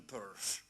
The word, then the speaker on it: Peirce: Eh, pueden pronunciarlo peers tranquilamente, que es como lo pronuncian los ingleses, eh, pero los norteamericanos le llaman Perse.